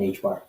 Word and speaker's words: HBAR: Pronounced and spelled HBAR. So there's XDC, letter XDC, letter XRP, And HBAR.